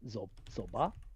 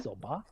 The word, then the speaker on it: soba: I never I never even connected the um zoba. You actually say it like soba.